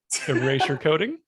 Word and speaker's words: erasure coding: All right, so pronounce it for me again, but slow. Erasure coding.